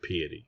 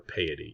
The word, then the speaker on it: piety: For example, in this dialogue, he's trying to find out the definition of piety, or piety. You can pronounce it either way.